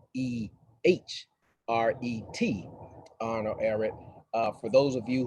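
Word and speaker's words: Ehret: to arnold aaron that that that last name is spelled e-h-r-e-t arnold aaron uh for those of you who might be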